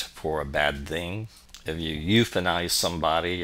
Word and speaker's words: eu: EU, pronounced you, is a Greek root that means good.